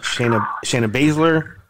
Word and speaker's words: Shayna Baszler: It's going to be Asuka, Shayna Baszler, Nia Jax.